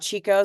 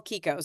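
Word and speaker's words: Chicco: car seat like a Kiko it's pronounced Kiko and not Chico so for those of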